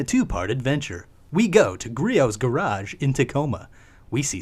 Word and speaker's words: Griot: Anyways, we're at Griot's Garage in Tacoma, Washington. It's pronounced Griot.